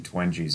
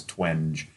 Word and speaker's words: Twenge: By the way, I want to give proper credit because you told me how to pronounce Gene Twenge's name. I always thought it was Twenge. But it's Twenge if anybody wants to look that up.